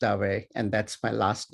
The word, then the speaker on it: Dave: Dave: I get called Dave all the time, so that's absolutely fine but it's actually pronounced away and that's my last name.